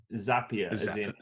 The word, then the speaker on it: Zapier: sure i didn't no i believe it's zapier zapier yeah i think so that's happier they say yeah save here oh